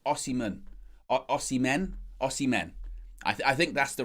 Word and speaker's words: Osimhen: chat already, good morning Ajax, saying about the pronunciations, asking it's Osimhen.